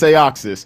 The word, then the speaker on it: Aeoxis: I'm going to say it wrong. Aeoxis? Yeah. It's Aeoxis. Almost no one gets it right.